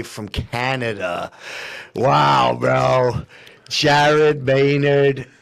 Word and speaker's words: Maynard: Jared Maynard. Maynard is how we pronounce the last name.